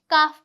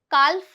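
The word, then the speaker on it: calf: काफ पढ़ेंगे। काल्फ नहीं पढ़ेंगे।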